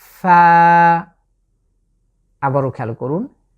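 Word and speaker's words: فاء: এর নাম হচ্ছে ফা। আবারও খেয়াল করুন, ফা। আমি উপরের যে দাঁত আছে সেই দাঁত দিয়ে নিচের যে ঠোঁটের পেটকে আমি স্পর্শ করছি, ফা।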